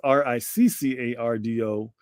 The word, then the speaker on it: Riccardo: So it is Riccardo. And that's Rick, not Rice, not Rico, not Ricky.